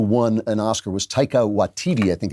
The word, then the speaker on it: Waititi: One of the people who won an Oscar was Taika Waititi, I think it's pronounced Waititi, who made that Jojo Rabbit, which was a comedy about the Nazis.